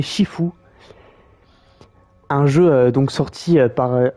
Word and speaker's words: Sifu: nouveau live sur Sifu, qui se prononce donc, je crois qu'il se prononce en japonais Shifu, un jeu donc sorti par, enfin développé par Slowclap et sorti en 2022.